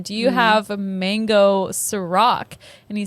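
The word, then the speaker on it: Cîroc: Real quick, we mispronounced it. It's Ciroc.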